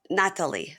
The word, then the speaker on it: Nathaly: the podcast Nat Nat Natalie I'm trying to say it right yeah yeah honestly it's like skipping the H yeah yeah I don't